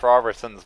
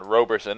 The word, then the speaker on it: Robertson: have to give a little shout out to Josh Robertson's mother who corrected us on our pronunciation of her son's name. It is indeed Robertson, not Robersonson as we had been saying.